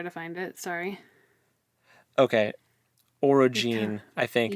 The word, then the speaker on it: orogene: find it sorry okay orogene I think o o r o g n e I'm pronouncing the g n as Gene orig and then or